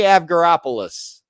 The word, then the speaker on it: Avgeropoulos: get to practice in Marie avgeropoulos is is is how her name is pronounced um and she plays